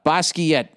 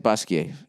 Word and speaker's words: Basquiat: all right uh basquiat slash basquiat is that how you said basquiat yeah i've learned that with my french studies you don't pronounce the t unless there's an e after it art world um i'm